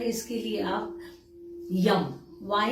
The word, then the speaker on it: यं: है या हार्ट चक्र है इसके लिए आप यम वाई ए एम यम का उच्चारण कर सकते हैं थ्रोट के लिए आप